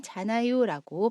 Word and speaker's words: 잖아요: 줄 때 사용하기도 합니다 그리고 자나요는 자나요라고 발음합니다 우리 예문 보면서 세